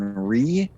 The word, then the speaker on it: Righ: Hi there, known online as Ree, which is spelled exactly as it sounds, R-I-G-H.